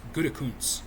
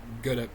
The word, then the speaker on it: Gutekunst: Just like how apparently the Green Bay's GM is Gutekunst, not Gute.